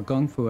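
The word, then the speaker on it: 功夫: Kung Fu typically refers to a martial art that comes from China. Kung Fu, or Gung Fu as it's sometimes pronounced, is a Chinese word,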